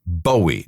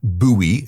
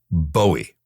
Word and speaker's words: Bowie: Now, let's be clear, this is how you pronounce it. Bowie, not Buoie and not Bowie. Although guitarist Mick Ronson insisted on pronouncing it that way, it should be pronounced Bowie.